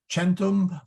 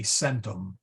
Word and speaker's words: centum: Latin they're all hard in ecclesiastical Latin they're either hard like cous or they are soft like chentum or cheli or um yeah so it's either a hard C like kuyus or krata um or a soft C like chentum but they are never a Centum yeah it was I